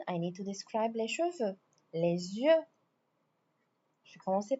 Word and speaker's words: cheveux: Les cheveux bruns. Les cheveux chattes. Les cheveux rou les cheveux noirs, les cheveux blancs, les cheveux gris. If you notice, I'm not pronouncing the s or the X.